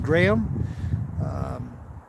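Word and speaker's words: Graeme: My name is pronounced Graham. My mom named me, she's from England, and it's an English/Irish name, and it's spelt a little bit odd as well. It's not the G-R-A-H-A-M, right? It's G-R-A-E-M-E, and it's pronounced Graham. So pretty much like normal Graham, except it's spelled different.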